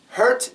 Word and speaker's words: hurt: hurt heard hurt herd hurt is shorter heard is longer the ER sound is stressed over here hurt her hurt her